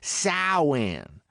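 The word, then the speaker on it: Samhain: Even though Sam is the ancient Celtic festival of the dead, its proper pronunciation is sin.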